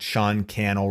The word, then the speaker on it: Sean Cannell: I'm at Sean Cannell, rhymes with YouTube channel on all the platforms. That is SEAN, last name Cannell, CANNELL.